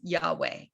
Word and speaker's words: Yahweh: can tell you that the way that this name is pronounced in the richard elliott freeman book and by most scholars for your understanding of what j refers to only is yahweh okay um this is